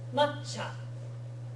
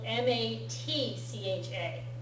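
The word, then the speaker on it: 抹茶: Matcha. You'll see it spelled M-A-T-C-H-A. Matcha. That's that really thick, bitter green tea that they serve in the tea ceremony. Matcha.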